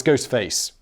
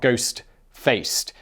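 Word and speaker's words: Ghostface: killer is is oh it's ghost face ghost face not ghost faced it's also tricky to pronounce ghost face killer k-l-l-a-h not er because you know i'm sure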